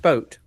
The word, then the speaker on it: boot: is so stupid but it's pronounced boat is it pronounced boat well okay but like